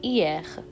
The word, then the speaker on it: hier: Because as we all know that H is silent in French, so it would be hier.